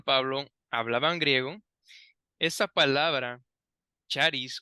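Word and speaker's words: χάρις: palabra la palabra griega para gracia es charis sí charis o Yaris también se puede pronunciar y era una palabra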